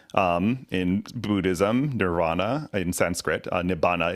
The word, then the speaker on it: nibbana: Nibbana is the Pali pronunciation.